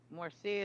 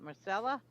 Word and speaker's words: Marcella: Morcia, is it Marcella? Yes. Oh, I thought you said Morcia.